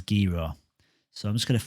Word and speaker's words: Gero: this particular coin is called gero or jivo depending on how you want to pronounce it i've heard people say both ways g-roll comes natural but i think it is gera so i'm just going